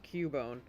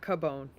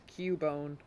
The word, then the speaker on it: Cubone: Well, the thing is, it's actually pronounced Cubone. That's the thing. That's why the CU is Q. It's not Cabone.